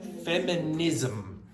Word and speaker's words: feminism: Feminism. If you have ISM, it's ism, feminism, socialism, nationalism, capitalism.